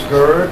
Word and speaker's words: Gerd: Hello, my name is Gerd. That's G-E-R-D, rhymes with bird. I always do that because Anglos have trouble with that name.